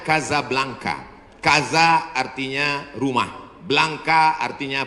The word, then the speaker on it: Casablanca: nama negaranya Maroko ibukotanya tulisannya Casablanca Hai cara bacanya Gaza Blanca Gaza artinya rumah Blanca